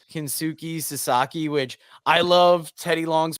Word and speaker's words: Kensuke Sasaki: the ref is, and we find out it's Kensuke Sasaki, which I love Teddy Long's pronunciation of it because it's Kensuke Kasake.